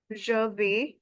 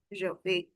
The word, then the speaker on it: vais: And if I just talk about the pronunciation, je vais, we have already read that a i s and a i gives you the sound of simple English of a, je vais.